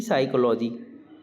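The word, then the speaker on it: psychology: है colonel precious precious साइकोलॉजी इसे P silent होता है इसमें तो पी साइकोलॉजी इस पी साइकोलॉजी कहेंगे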